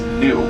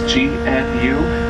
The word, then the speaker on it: gnu: we do and they're known by locals as new that's from the noise they make that's gnu with a silent gene many giraffe awaiting us